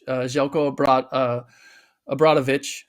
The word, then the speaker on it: Željko Obradović: So this kind of leads me into the next topic, which is comments made by a legendary Serbian coach, Željko Obradović. I'm pronouncing that correctly.